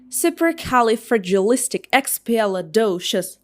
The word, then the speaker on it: supercalifragilisticexpialidocious: Okay, it should be pronounced like supercalifragilisticexpialidocious.